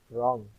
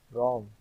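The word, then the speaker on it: wrong: کا تلفظ نہیں ہوتا۔ اب ان لفظوں کا تلفظ کرو۔ رانگ، نو، نتھنگ، آنیسٹ، پام۔ رانگ، نو، نتھنگ، آنیسٹ، پام۔ اب دیکھیے کہ نتھنگ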